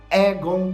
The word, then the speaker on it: Aegon: que é o seguinte, eu vou falar Aegon Targaryen porque é a pronúncia correta segundo a tradutora oficial da HBO aqui no Brasil, a Luda, tá bom?